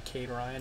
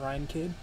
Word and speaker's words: Cade Ryan: here players name wrong it's actually Kade Ryan not Ryan kid so apologize for that